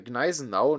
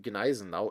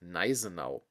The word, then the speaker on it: Gneisenau: should therefore be pronounced Nizenau. Even in debates with Germans, this theory is sometimes stubbornly maintained. Apart from a few H letters, there are actually no silent consonants in the German language, as for example in